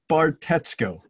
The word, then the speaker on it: Bartetzko: a tongue twister absolutely you say it very carefully as a matter of fact so it's Steve Bart Etsuko now look it's only